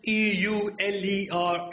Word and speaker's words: Euler: It's the Euler number. Pronounce E-U-L-E-R as Euler.